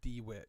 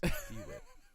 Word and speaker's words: DeWitt: It's pronounced DeWitt, guys. DeWitt.